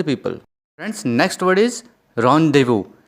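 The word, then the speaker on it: rendezvous: दोस्तों, देखने में तो रेंडेजेवस लग रहा है, तो लेकिन हम इसे क्या कहेंगे? रॉन्डेवू। इसे कैसे प्रोनाउंस करेंगे? रॉन्डेवू। दोस्तों, ये जो वर्ड है, this is basically French word, जिसका मतलब होता है एक मीटिंग, ठीक है।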